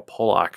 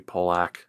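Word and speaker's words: Polák: Then there's Carl Pulak, who, my God, his save percentage sucked, but damn. All right. I guess it'd be Pulak, as in Roman Pulak. I always heard people pronounce it Roman Pulak, though, too.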